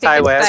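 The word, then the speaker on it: Ti West: Did I pronounce the first name correctly? Yeah, yes, I think Ty West.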